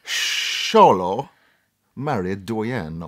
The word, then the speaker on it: Xolo Maridueña: really weird name it's it's spelled x-o-l-o but the actor's name is pronounced and I'm hopefully gonna get this right sholo married doyan or something like that that was sort of